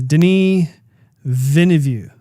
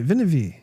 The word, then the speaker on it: Denis Villeneuve: I'm going to say it wrong again, but I think it's Denis Villeneuve. Ooh, I may have got that right. Villeneuve.